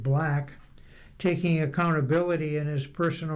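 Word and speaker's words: 6LACK: The resulting album sees Sixlack, he pronounces it Black, taking accountability in his personal relationships as a major theme.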